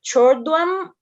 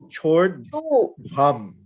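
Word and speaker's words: चोर्ध्वं: Like chordwam or Yes. churdwam? That's chordvam. Chordvam. So the D's got an H to it, so it's got a H to it.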